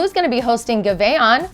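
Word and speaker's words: Giveon: Fontainebleau is going to be hosting Gaveon, that's how you say it, on October 10th, and Marca MP on October 11th.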